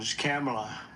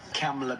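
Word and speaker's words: Kamla: It's Cam, right? Cam as opposed to calm.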